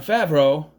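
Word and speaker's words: Favreau: Well, because it's a follow-up in that it is based on a book by the same author as Jumanji, but director John Favro, which is how you say his name, not Favro or Favro or Favro.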